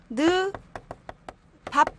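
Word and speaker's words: 늪 앞: 그래서 얘를 발음을 하면 원래 요렇게 돼야 되는데 한 번 더 가서 느, 밥 이렇게 된다라는 거죠. 그쵸? 느밥으로.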